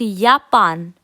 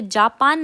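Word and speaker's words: Japan: इस फ्राओकियो का जीकोमताउस यापान हम यहां पे जापान नहीं कहते हैं क्योंकि जो जे है उसको हम वाई की तरह प्रोनाउंस प्रोनाउंस करते हैं तो यहां पे क्या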